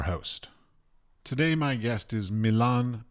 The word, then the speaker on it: Milan: Milan? Okay. Milan. Like Milano, Milan. Same like Milan, exactly how we pronounce Milan.